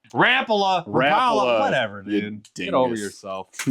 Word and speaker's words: Rapala: The fit and finish on it is perfect, and a lot of people see this as like the old Rapala style.